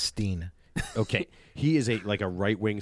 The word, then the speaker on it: Stein: I think it's pronounced Steen.